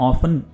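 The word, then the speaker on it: often: Basically ऑफ्टन का मतलब, या ऑफन, ये दोनों तरह से प्रोनाउंस किया जाता है।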